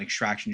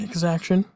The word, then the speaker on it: Exaction: Drew charged with an extraction shield guy into a 7-wound Marine. Exaction. Exaction. Sorry, we've been having this discussion eternally that apparently I haven't been saying it right this whole time.